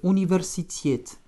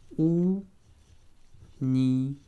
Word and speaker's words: университет: Это университет. Accent sur la finale également. Университет. Хорошо. Еще раз. Universität.